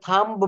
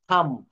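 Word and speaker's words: thumb: বলবো না হ্যাঁ থাম এখানে আমরা কিন্তু থাম্ব বলতে পারবো না আমরা বলব থাম্ব থাম্ব থাম্ব শব্দের হচ্ছে হাতের বৃদ্ধ আঙ্গুলি অর্থাৎ হাতের বুড়ো আঙ্গুল যেটাকে বলা হয় দেখছেন কত সুন্দর উচ্চারণ আমরা কিন্তু এটা এতদিন ভুল বলতাম থাম্ব বলতাম থাম্ব আমরা স্কুল কলেজে আমরা শিখাই ছেলেমেয়েদেরকে থাম্ব ইটস রং সঠিক উচ্চারণটা হবে থাম্ব কি হবে বলেন তো থাম্ব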